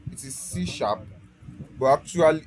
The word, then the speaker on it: C#: So C# is so it is called it is C#, but actually it is C hash, but actually pronounced C#.